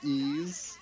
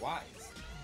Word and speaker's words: Ys: You know, since you were a fan of the Ease series, was it difficult to adjust to calling it Ease? Yeah, because as a kid, I mean, we always thought it was Wise.